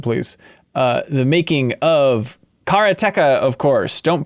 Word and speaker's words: Karateka: of this episode please uh the making of karateca of course don't pronounce it any other way um a game